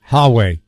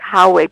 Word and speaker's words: Huawei: And they specifically identified one Chinese company, and I think you pronounce it Huawei. Huawei.